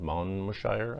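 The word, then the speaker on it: Monmouthshire: to wales rockfield studios rockfield mount moshire i think it's pronounced they spent three weeks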